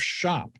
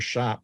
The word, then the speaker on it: SHÄP: speaking with Jurgen pretz he's the founder of shop shop is spelled s-h-a with an umlaut p and you